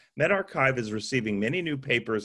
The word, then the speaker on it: medRxiv: It's pronounced medRxiv, a preprint server.